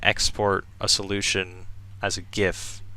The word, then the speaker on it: GIF: game you can export a solution as a GIF. It's pronounced GIF, by the way.